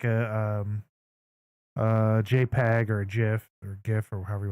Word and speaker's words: GIF: GIF cuz it's a G and G is a g sound but a lot of people say GIF with a J sound I whatever doesn't matter it is you know however you want to pronounce it it's up to you I pronounce it one